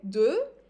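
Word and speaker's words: deux: not pronouncing the X again du and I'm not even pronouncing it as an S just do and for the last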